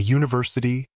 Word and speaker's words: university: car a book a university that you in University sounds like a y using before words that